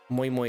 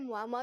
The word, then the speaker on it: Moi Moi: Moi Moi. You just love saying her name, right? Moi Moi. I actually pronounced it Mwah the first time.